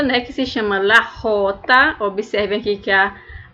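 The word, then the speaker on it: jota: que se chama la rota observem aqui que a a própria letra aqui ao ser pronunciada vai ser pronunciada como se fosse no som de R la rota vejam aqui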